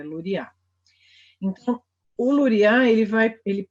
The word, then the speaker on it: Luria: gente Alexander romanovich luria a gente fala luia e aí acentuação tá área a sílaba tônica pronunciada tá errado é Lori a lori a ele vai